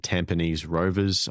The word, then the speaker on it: Tampines Rovers: So obviously second place in the Bulls group, Stefan Mork over in Vietnam, and Tampines Rovers, I believe is the correct pronunciation.